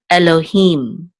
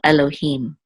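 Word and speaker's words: אֱלֹהִים: the mem so feet so this will be him Elohim and the accents on the last level Elohim okay and this is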